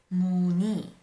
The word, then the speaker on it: 문의: But when there is another consonant there, then this 의 can also be pronounced as an e. Some examples, 문의, this would be pronounced as 문의. 희망 is pronounced as 희망.